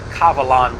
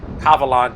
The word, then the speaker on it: Kavalan: those around town here kavalan being a taiwan brand of whiskey uh world-renowned brand and it's actually pronounced german not sure why they started the name with a k instead of a g but that's the way